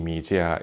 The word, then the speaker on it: Mijia: Note that I am pronouncing Xiaomi Mijia in the correct Chinese pronunciation, not because I know Chinese, but because it's the right thing to do.